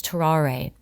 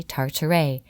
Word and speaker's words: Tarare: bit of French history, the person's name is Tarare, like Ferrari. I have it written like that. I have the pronunciation. Everything should have been just fine, but for whatever reason, I say Tartare, and my brain just went with it. It's actually Tarare. Tarare, Tarare, like a Ferrari.